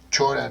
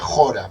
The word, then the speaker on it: Chora: La materia caótica, que es lo que llaman Jora, o se escribe Chora, suena raro, ¿no? Chora, ¿no? Pero se pronuncia Jora, por lo que sé.